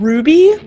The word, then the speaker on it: RWBY: find the show and it's called ruby it's spelled oh rwby so such a good